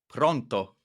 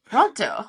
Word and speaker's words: pronto: It's pronto. Pronto. Oh, interesting. I said it with a Spanish accent, but it's pronto, and it just means ready, as in I am ready to begin my conversation with you.